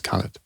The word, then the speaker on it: Khalid: those you know because it's a name which exists in many cultures and so it should have all those pronunciations but in Egyptian it's the anglicized version is Khaled.